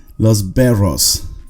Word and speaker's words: berros: los berros los veros can you pronounce after me los verros roll your arse los berros if it's too hard to pronounce the double arm now this is a